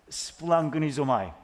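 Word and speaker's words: σπλαγχνίζομαι: 이 말은요, 이렇게 읽어요. 스플랑그니조마이라고 읽습니다. 스플랑그니조마이. 되게 어렵지 않습니까?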